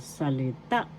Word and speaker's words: salita: Word means salita first syllable sa second syllable le. Third syllable ta. Third syllab is where the accent is salita salita word in English